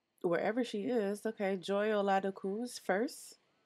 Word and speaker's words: Oladokun: Okay, Joy Oladokun's first. And yes, that's how y'all say her name. She's Nigerian, so I know.